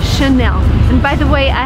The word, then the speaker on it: Chanel: And the right way to pronounce it is again in French because it's from France. So the correct way to say this word is Chanel.